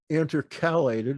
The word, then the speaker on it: intercalate: It talks about those days as being intercalated. Is that how you pronounce that?